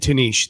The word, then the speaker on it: Tanish: And yes, you did say my name right the last time we did the podcast. Okay, good. I think I said Tanish that time.